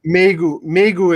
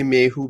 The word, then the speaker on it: Mayhew: is it Mayhew or what's the correct Pronunciation? pronunciation? Megu is the way to Mayhew. Okay, Mayhew. Yeah. I just want to make sure we have. Yeah, I know a lot of people say Mehu, but it's Megu.